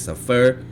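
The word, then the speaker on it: ספר: You should also note that there are he some Hebrew words that are not stressed on the last syllable. The stress of these words will be indicated by an accent mark over the stress syllable.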